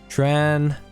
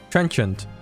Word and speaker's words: trenchant: Trenchant. Trenchant. Alright. Trench and then chunt. Trenchant.